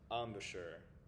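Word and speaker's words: embouchure: Um and then or letter c this word is pronounced amisher.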